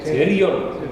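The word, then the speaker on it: pterion: مع بعض منطقه بنسميها تيريون، بدا بحرف البي ولكنه سايلنت.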